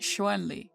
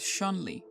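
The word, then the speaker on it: Chun-Li: properly romanized as Shan Le in pinin and pronounced Shen Le despite Western is commonly pronouncing it as shunli the Japanese rendering of the name is shundre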